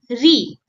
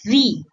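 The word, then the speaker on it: ऋ: This is the vowel Re, one of the oldest sound in Hindi and Sanskrit alphabet. It sounds like Re, ring, a short crisp syllable.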